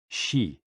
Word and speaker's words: XI: And XI, pronounced like shi, which connects the whole body.